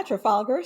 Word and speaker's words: Trafalgar: your own strategy firm and sorry if I mispronounced this tra traf Trafalgar does that sound right yeah Trafalgar strategies Trafalgar so why the pivot and what